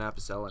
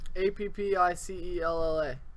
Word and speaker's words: Apicella: Oh God, Apicella is spelled. Appicella. There's not actually a second P. It's Oh, Apicella, and he has a second channel that's the Leaf Clips, and oh yes.